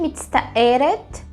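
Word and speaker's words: מצטערת: O homem diz Ani mitztaer, com o som de no final. E a mulher vai dizer Ani mitztaeret, né? Vai ganhar um sonzinho de et no final.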